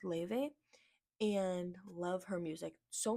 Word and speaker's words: LY: you guys know ly that's what it looks like but it's pronounced Le and love her music